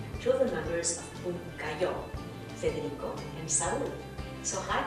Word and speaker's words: Pumcayó: And tell us a little bit more about Pumcayó.